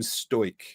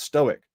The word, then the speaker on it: stoic: I f I tell the fat man his provocations are futile because I'm stoke. He bursts out in laughter and says that it's pronounced stoic, not sto.